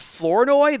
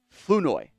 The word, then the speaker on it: Flournoy: It's not Flournoy. The R is silent, apparently. So I've been saying it wrong the entire time, and I'm very sorry, Ryan. It's Ryan like Flournoy.